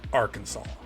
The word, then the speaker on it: Arkansas: that it's spelled Aransas but legally it is pronounced Arkansas and that's I mean well that's how it